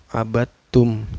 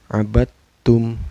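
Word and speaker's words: عبدتم: Abadtum ini ada idgham mutajanisain karena ada dal sukun bertemu dengan huruf ta ya. Cara bacanya ini bukan qalqalah ya. Karena ada dal sukun bertemu dengan huruf ta. Abattum, cara bacanya memasukkan ke huruf ta. Huruf dalnya tidak dibaca ya. Dal sukunnya tidak dibaca. Abattum gitu.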